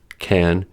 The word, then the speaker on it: can't: The clue is that the positive form, can, is normally unstressed and is pronounced as kun. But the negative form, can't, is stressed and so clearly pronounced as can.